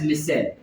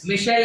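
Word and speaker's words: micelle: Salts is कॉल्ड एज मिसेल। You call it एज मिसेल। मिशेल नहीं बोलना, मिसेल चाहिए, ठीक है? मिसाइल भी नहीं बोलना, स्पेलिंग अलग होता है।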